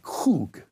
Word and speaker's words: kug: And the best way to spell it in English would be K-U-G or K-O-O-G, okay, kug, except the Hebrews had a at the beginning of it, and like they're going to clear their throat or something.